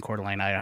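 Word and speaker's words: Coeur d'Alene: one because he has a trivia show in cordline Idaho cordine I'll never mispronounce that again Tim tanks were first used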